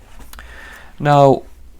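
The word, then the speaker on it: 円: coins in Yen here we have round and yen but we pronounce it n in Japanese so yeah simple 17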